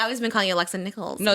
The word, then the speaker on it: Nikolas: I mean, we just met, but today we have on Alexa Nikolas. Mm-hmm. Hello. You said it right. I know. Some people say Nichols, and I'm like, wait, I've been saying Nichols too.